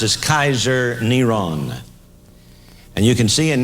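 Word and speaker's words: קיסר נרון: His name was pronounced as Kaiser Neron.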